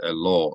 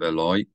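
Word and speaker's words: אֵלַי: I made there where I said ELO instead of Eloy it's not just being nitpicky about pronunciation it actually significantly changes the meaning of the word a law would be to him whereas Eloy is unto me from the beginning one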